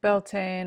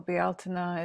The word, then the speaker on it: Beltane: So Beltane or Bealtaine in a more traditional pronunciation of it.